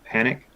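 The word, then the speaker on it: Panuke: is lake yep yeah it's spelled p-a-n-u-k-e but i think they call it panic panic is the local let's call it but there's a wilderness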